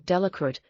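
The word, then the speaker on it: Delacroix: Harry Jones and Dicky de laqua the villagers pronounced this name delit eventually made a great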